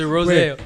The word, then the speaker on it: Rozeo: There was nothing wrong with the Z. It was the A. It's a Rozeo.